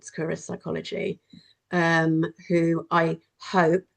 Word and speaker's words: Succoris: Um and so if you were just going to describe what your So, is that pronounced Securus, is it? Securus, yeah.